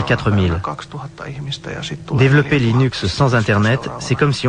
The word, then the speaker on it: Linux: comment prononcer linux eh bien je prononce linux comme linux cependant si vous êtes linus torvalds ou le pronom serez sans doute linux d'un autre côté si vous venez de la côte ouest des états unis vous pouvez le prononcer line axe mais linus torvald se